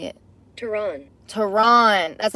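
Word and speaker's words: Tehran: hell no I want you to say it teron Tron that's how you say it teron so it says Teran isn't bluffing and it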